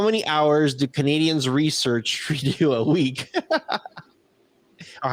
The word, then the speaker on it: Trudeau: How many hours do Canadians research Trudeau a week? Or how do you say that? I said Trudeau. Trudeau. Trudeau. Trudeau. No, Trudeau, like dough.